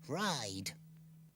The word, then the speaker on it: ride: Ride. Hear what you've done to this letter, Magic-y? I'm I. I can say my name. Yes. In ride, you say I, but only with the help of Magic-y.